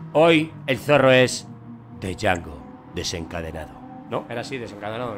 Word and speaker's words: Django: ¿Para qué pones la D? Porque habrá que pronunciarla. ¿Para qué te ponen a ti una A antes de la N? Para que sea Ángel, no Ángel. Pues es lo mismo. Pues si te pone una D antes de la J, no sé cómo, pero tienes que pronunciar Django.